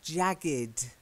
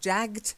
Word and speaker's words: jagged: again it's the ending it's jagged not jacquard jacket so it's not jagd and it's often the IDI the e is silent it's not Edie because